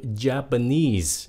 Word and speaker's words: Japanese: Japan Japan nhấn âm 2 mà Cái chữ Japanese nhấn âm 3 nghe lại này nha Japan